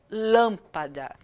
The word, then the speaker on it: lâmpada: a pronúncia mais forte como lâmpada lâmpada Eu não falo lâmpada nem lâmpada eu falo lâmpada é a mais forte